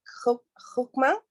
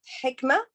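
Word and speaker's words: حكمة: Listen, it's same meaning, but I think they pronounce it like hukma, but we pronounce it hikmah, but actually it's the same meaning, wisdom.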